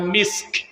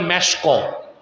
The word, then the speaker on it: মিস্ক: সহিহ বুখারীতে এসেছে আল্লাহর হাবিব সাল্লাল্লাহু আলাইহি ওয়াসাল্লাম ইরশাদ করেছেন, আতিয়াবু তিবেল মিসকু, সবচেয়ে দামি মূল্যবান সুগন্ধির নাম মিস্ক, যেটাকে আপনারা ভুল বলেন মেশক। উচ্চারণটা কি? মিস্ক।